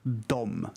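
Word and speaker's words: dem: But it's pronounced, both of them are pronounced dom, D-O-M.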